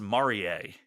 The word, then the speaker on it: Marie: uh lady Marie but it's pronounced Maria even though it is m a r i e okay we'll go with